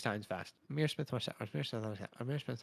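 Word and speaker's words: Ihmir Smith-Marsette: He says the pronunciation is Emir Smith Marset. Emir Smith Marset. Emir Smith Marset. Say that 6 times fast. Amir Smith Marset.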